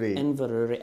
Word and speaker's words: Inverurie: How do you pronounce it? Inverurie. I'm in Inverurie.